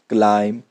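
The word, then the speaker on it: climb: टॉम, com, Baum, लैम, क्लाइम, डम। इसमें बी की साउंड नहीं आई है, क्यों? बी साइलेंट था, क्यों? एम के बाद आया।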